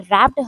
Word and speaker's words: wrapped: Hours later, घंटों के बाद, when grand mother had रैप्ड हर इन a shawl, grand mother आती हैं, उसे शॉल में, WRAPPED, यहाँ W साइलेंट है, उसे शॉल उड़ाती हैं।